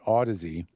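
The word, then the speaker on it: Audeze: And I've So, there's a company called Ody, and it's spelled A U D E Z E.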